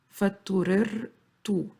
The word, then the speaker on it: فاضطررت: In Arabic, when we have a repeated letter, like in this case, we pronounce them separately. We don't join them when we pronounce them. We pronounce them as two separate letters. فاضطررت, or two separate sounds.